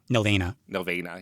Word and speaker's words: Nelvana: Nelvana, yeah.